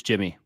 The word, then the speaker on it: Yimi: said oh yeah you're right no it is Jimmy JY okay yeah JY I think G the pronunciation J M JY Garcia and he's yeah